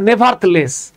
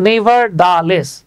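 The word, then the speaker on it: nevertheless: in contrast এরপরে দেখেন এই উচ্চারণটা আমি নিয়মিতভাবে ভুল করতাম আমি এটাকে পড়তাম নেভারলেস মজার ব্যাপার হচ্ছে এটা আপনাকে পড়তে হবে নেভার লেস আলাদা আলাদা দেখেন নেভার দা লেস এই নেভার দা লেস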